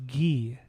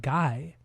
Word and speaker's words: Guy: But his first name is actually pronounced Gee. It's not Guy.